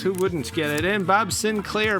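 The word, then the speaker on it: Bob Sinclar: wouldn't get it in Bob Sinclair pronounced like the old computer uh this was definitely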